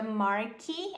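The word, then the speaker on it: marquis: The Marky. Apesar de ter esse S aqui, a gente não fala.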